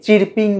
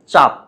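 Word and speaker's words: chirping: আর পি আই এনজি এটাকে অনেকে চিরপিং বা চারপিং বলে। আসলে এগুলো ভুল উচ্চারণ। শুদ্ধ উচ্চারণ হচ্ছে চাপ।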